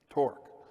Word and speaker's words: torque: and dc nut driver starts with tea and rhymes with pork torque what do we know